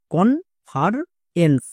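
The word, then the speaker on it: conference: ই এন সি ই এটা হচ্ছে word pattern, এর জন্য উচ্চারণ হয় এনস। তাহলে একসঙ্গে উচ্চারণ করো, কনফারেন্স, কনফারেন্স, কনফারেন্স।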